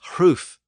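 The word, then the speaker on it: hruf: They were often pronounced with a slight breathy sound before the initial R. So a word like ring was hring in Old English, spelled H-R-I-N-G, and roof was hroof, H-R-U-F.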